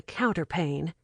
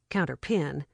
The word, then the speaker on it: counterpane: She pulled back what Miss Simmons had called the counterpane and had pronounced counterpin, lay down, and went to sleep.